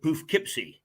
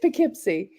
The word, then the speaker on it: Poughkeepsie: now pronounce that again because I always say poofkeepsie yeah it's Poughkeepsie spelled p-o-u-g-h-k-e-e-p-s-i-e so yes